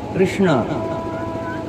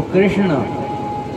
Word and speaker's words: कृष्ण: तो कृष्ण क्या कहेंगे? कृष्ण। अपनी जो जिह्वा है एक ऐसी झुकेगी, पर ऊपर आएगी तालू में, पर नहीं, कृष्ण।